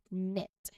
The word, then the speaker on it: knit: Here, the K is silent also, and it's pronounced as knit.